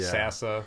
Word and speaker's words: Sasa: or Johnny Joanie Try try not having an H in your name but pronounce it Sasa Sasa yeah.